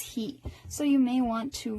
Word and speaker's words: ひ: that you can remember H I means he never hi go ahead and do that but if you're if a lot of people think that they're fine with it and then when they're doing their flashcards they wind up memorizing this as high it's not high it's heat so you may want